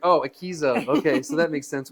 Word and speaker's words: Akeso: So let's wrap up the Akeso, right? Is that how you say it? I was Akeso. calling it Akeso at first.